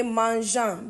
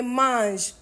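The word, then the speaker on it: mangent: We don't say mangeant, but we say mange.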